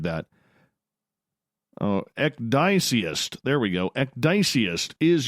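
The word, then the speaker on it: ecdysiast: Ecdycist. Oh, I totally butchered that. Oh, Ecdyceist.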